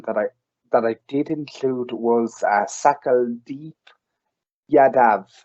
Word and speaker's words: Sakaldeep: Another person that I did include was Sakaldeep Yadav. I think I'm pronouncing that right. That's SAKALDEEP. L. So Sakaldeep.